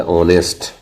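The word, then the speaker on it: honest: अगर किसी स्पेलिंग में एच किसी वोवेल ए इ आई ओ यू के पहले आता है तो वहां एच का उच्चारण नहीं किया जाता है।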